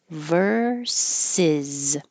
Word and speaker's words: versus: Verses with a z at the end.